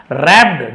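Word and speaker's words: wrapped: रैप्ड W silent है रैप्ड यानी लिपटा हुआ सिक्योरली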